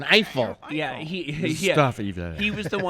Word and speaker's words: Eiffel: Say it like an American. Eiffel.